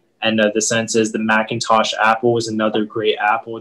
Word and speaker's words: Macintosh: give you the information so the word is macintosh the word macintosh is a noun and it